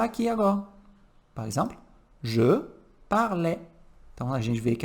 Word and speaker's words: parlais: A pronúncia do je, tu, il e il, no plural, é igual. Eric, o que vai distinguir? O sujeito e o contexto. Tá? Então, cuidado. Je parlais, tu parlais, il, elle, on parlait,